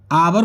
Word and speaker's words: hour: जैसे एक होता है HOUR, आवर बोलते हैं, आवर, जिसका मीन्स होता है घंटा।